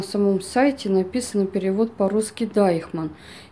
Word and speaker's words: Deichmann: сайте написано перевод по-русски Дайхман. Я склонилась больше, написала название Дайхман, чтобы, если что, в общем-то, вы понимали то, что именно произношение Дейчман, в общем, вот так вот, правильное, вот, этого магазина, в котором я вот обзор вам делаю.